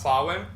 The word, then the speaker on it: Samhain: So, the festival known as Sawin is spelled S A M H A I N, but it's pronounced Sawin.